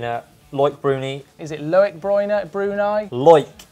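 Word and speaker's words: Loïc Bruni: Is it Loic Bruni? Loic Bruni.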